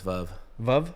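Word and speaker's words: Veuve: click what's the corre what's the correct way to say is that what it is it's V VV yeah it's French for Widow oh really H interesting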